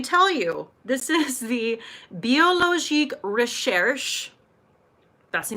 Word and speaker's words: Biologique Recherche: This is the Biologique Recherche. That's the name of the company. It's French. Use your best French accent. Biologique Recherche. Say it with me. Biologique Recherche. Okay? That's how you say it.